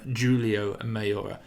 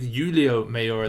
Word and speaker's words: Julio Mayor: comment section last week for calling him giulio mayor i didn't take spanish i got the pronunciation all wrong but this week julio mayor the 73 kilo weight